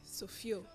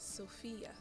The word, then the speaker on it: Sophia: take it but what's what's the real pronunciation of your name how do you say your name the proper way to say it actually is Sophia Sophia Okay Sophia ladies